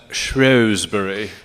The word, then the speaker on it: Shrewsbury: The British pronounce that Shrewsbury.